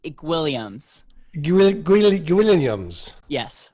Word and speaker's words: Guilliams: to our guest our guest today is gilliams am i pronouncing that right close it's williams you will greenlee williams yes i'll take that